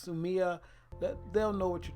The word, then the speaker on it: Sumi: spelled s um I sue me but it's pronounced soo Miah that they'll know what you're talking about other